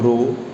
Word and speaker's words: rho: यहाँ पे जो सिंबल मैं बोल रहा हूँ रो, इट इज़ RHO, इसकी प्रोनाउंसिएशन RHO रो है, एंड रो इज़ अ